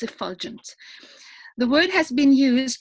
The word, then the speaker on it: effulgence: the word of the evening is pronounced effulgent I've heard a couple of times that it's been pronounced as if foggins but if you watch